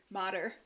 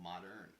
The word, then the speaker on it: mater: out to my alma how do you say this alma mater modder oh i thought it was almost modern no modder something new i'm sorry